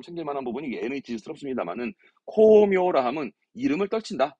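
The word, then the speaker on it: 功名: 발음 챙길 만한 부분이 NH스럽습니다만은 코묘라 함은 이름을 떨친다.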